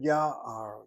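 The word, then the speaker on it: יער: Notice how I say that word, na'ar. Take the word ya'ar. Na'ar is a young man, and ya'ar is a forest. Why the accent where it is on the first syllable?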